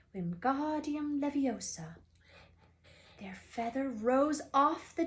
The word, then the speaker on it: Wingardium Leviosa: Wingardium Leviosa, he shouted, waving his long arms like a windmill. You're saying it wrong, Harry heard Hermione snap. It's Wingardium Leviosa. Make the God nice and long.